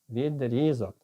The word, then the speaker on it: відрізок: Відрізок чи відрізок? Відрізок.